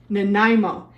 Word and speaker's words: Nanaimo: test them how do you say it again Nimo it's a city in Canada so yes this